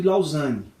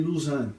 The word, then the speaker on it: Lausanne: deixar de citar o pacto de lausanne ou parte de luz anos depende da pronúncia se você quer uma promoção um pouco mais francesa da palavra é uma cidade suíça